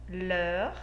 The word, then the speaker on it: leurs: Observe que o leur, ele recebe um S no final do plural. Mas perceba, a pronúncia é a mesma. Leur e leur.